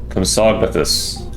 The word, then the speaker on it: Compsognathus: Compsognathus is how it is pronounced.